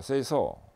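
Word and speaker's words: 清掃: 일본에서 생겼기 때문에 OS로 발음되는데, 일본 발음을 통해서 OS를 보면 정리는 세이리, 정돈, 세이돈, 청소, 세이소, 청결, 세이게츠, 그 다음에 습관화, 시적게 해서 5가지 OS 이렇게 됩니다.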